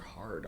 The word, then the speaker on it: real: They were changing the um the currency the currency from kusu to ha and and it's spelled like real r but so that's the currency that we still use.